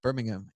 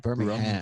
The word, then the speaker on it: Birmingham: And then 2 weeks after that, we're going to go to Bitbrum in Birmingham, England, not Birmingham.